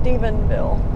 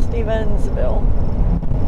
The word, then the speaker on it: Stephenville: this in the middle I thought it was Ness in the middle but it's not it's just Stephenville not Stevensville so sorry Stephenville people